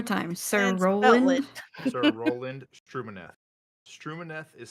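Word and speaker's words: Stumineth: name one more time sir Roland sir Roland strum manth strum manth is spelled s t u m i n e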